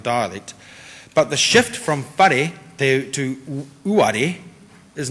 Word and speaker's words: whare: Listening to speakers of many dialects, the initial sound in a word like whare is not ever really heard as a hard F, but it's also not heard as a silent letter either.